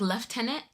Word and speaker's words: lieutenant: Oh, and the Brits say lieutenant differently than in the US. Isn't it like left tenant? Left tenant. There's an F in there somewhere.